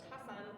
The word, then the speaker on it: Hassan: Is it Hassan or am I? Yeah, Hassan is Hassan. They say it here. My husband is Lebanese, so Hassan would be how they would say it in Lebanon.